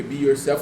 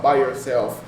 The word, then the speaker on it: Be Yourself: Passado o tempo, aí eu precisei mudar o nome, porque Be Yourself, a galera falava By Yourself.